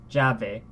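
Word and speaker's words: llave: sound like I believe double L is the J sound the English J sound I want to see javi right yeah they this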